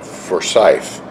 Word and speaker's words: Forsyth: We are at the Hampton Inn in Forsyth. I was duly corrected on my pronunciations of the name of the town here. It's Forsyth, Georgia.